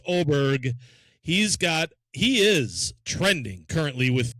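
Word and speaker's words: Åberg: You're going to call Ludwig Aberg, but it's not. It's Oberg.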